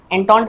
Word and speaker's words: Entente: Okay, इसको हम एंटॉन्ट बोल के प्रोनाउंस करेंगे।